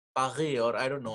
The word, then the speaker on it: Paris: And I always try to get that r in French. That r, Paris, Paris, or I don't know how do you say तो असा Paris.